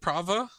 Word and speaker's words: Prava: steel Legion prava how do you say it prava yeah p r a VA a p this